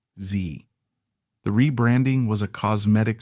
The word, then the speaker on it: Xe: In February 2009, Blackwater Worldwide officially changed its name to Z Services LLC, pronounced Z.